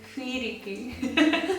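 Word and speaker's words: フィリピン: Because this F is very difficult, we don't have this F. So we just add Fu, I, Fi, Philippine.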